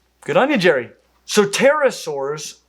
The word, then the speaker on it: pterosaur: May the best, most athletic pterosaur win. Silent fact. In the word pterosaur, do not pronounce the P.